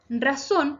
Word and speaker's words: razón: Razón se acentúa en la última sílaba, por lo tanto es aguda.